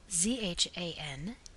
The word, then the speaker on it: Zanduia: The proper pronunciation of this is as if it were spelled Zhanduya.